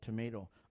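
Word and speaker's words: tomatl: Stick the tip of your tongue behind your top teeth and leave it there.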